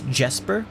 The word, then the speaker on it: Jesper: It's Jesper, but pronounced the Finnish way with the J being a y sound.